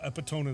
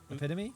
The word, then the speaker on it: epitome: are the epitome of that's not how you pronounce is how you pronounce it the epitome is epitome epitome I think is what you're looking for you are the epitome